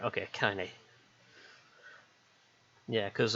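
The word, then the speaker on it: Kainé: Yeah, because originally I was calling it Kane, but then I think I heard someone pronounce it as Kine, and I was like, that's probably the pronunciation I should be going for.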